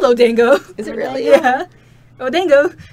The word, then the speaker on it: odango: outad of lead see I thought she was saying oh dang odango oh it's spelled odango is it really yeah